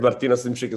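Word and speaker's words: Martino Simcic: hello hello guys today we have with us martino simchi karere have i pronounced your name correctly yes martina simschick is correct hello everyone yeah so we have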